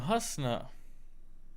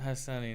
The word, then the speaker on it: Hasna: I'm Hasna, not Hassani.